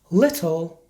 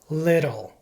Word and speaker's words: little: result of lazy speech as a general rule when T is between two vowels it is pronounced like a fast D sound to many Spanish speakers